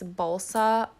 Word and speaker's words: balsa: So what we did was we bought this balsa wood from Michael's. It is spelled like salsa, but with a B.